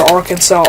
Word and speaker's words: Arkansas: pretty close you know why isn't Arkansas just pronounced Aransas like I feel like we should just retire the French pronunciation for that like no I don't